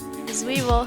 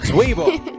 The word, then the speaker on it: Zwiebel: Zwiebel. Zwiebel.